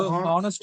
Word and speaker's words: honest: Because the honest is can vowel sound. Vowel sound. H silent. It is actually honest. A is coming. The A sound is coming. So it is vowel sound.